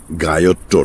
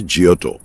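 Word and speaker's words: Giotto: গায়োট্টো নয়, ইংরেজি উচ্চারণে জিওটো, ইতালিয়ানে জিওটো, জিওটো, বত্তিচেল্লি, মন্টেগনা।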